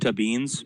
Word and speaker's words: Tabines: Tubins. Sorry if I mispronounced that. Dad, you did it correctly, sir. Awesome. All right. I believe it's pronounced Tabines, but it's not a big deal.